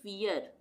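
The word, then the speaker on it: fear: तो यहां पे भी हम इसको क्या पढ़ेंगे फियर फियर सी H double E आर यहां पे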